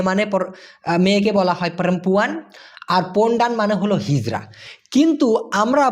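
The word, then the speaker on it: pondan: লিঙ্গ সেটা হচ্ছে পন্ডান পি ও এন ডি এন উচ্চারণটা হবে পন্ডান যেটার মানে হচ্ছে আপনার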